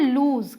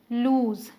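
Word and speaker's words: lose: यहां ए जाते हैं ल ओ एस ए इसे बोलते हैं लूज क्या बोलते हैं लूज ठीक है ये ध्यान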